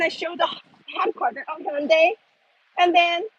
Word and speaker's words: Hyundai: So, oh, I know Hyundai, but we never call it Hyundai. It's really like an actual pronunciation. It's Hyundai. Even my name is Jihyun. It's Jihyun. It's more like a Y O rather than U.